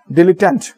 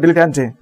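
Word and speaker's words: dilettante: তাকে বলি আমরা হচ্ছে ডিলিট্যান্ট। ওকে, এই উচ্চারণটা কোন জায়গাতে আসছে? ডিলিট্যান্টে। ওকে, কোথাও দেখেছি আছে ডিলিট্যান্টে, কোথাও আছে ডিলিট্যান্ট।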